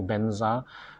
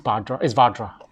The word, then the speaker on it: vajra: of them have been have altered the pronunciation to benza based on the ability to pronounce it so the transmission comes down according to that sound we follow in natural but actually uh it's vadra all right all right